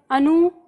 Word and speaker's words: अनुगृहीत: तो इसे याद रखना टुकड़ों में, अनुगृहीत ऐसे याद रखना है। तो अनु अनु ग्री, ठीक है, ग्री री की मात्रा है, ही, ठीक है।